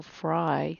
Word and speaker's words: fry: same ending sound so fry the y has a long i sound like in sky let's look at silly